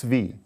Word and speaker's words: V: I pronounced that right, yes? It's V. Okay. Yes, you did.